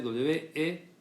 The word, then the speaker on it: Weber: Weber se escribe W-E-B-E-R. Weber sería, pero se pronuncia Weber porque el apellido es alemán. Y si ustedes dicen Weber en un examen final, va a ser muy mal tomado y va a ser corregido y lo demás. Entonces, mejor que sepan que Weber se dice Weber y ya.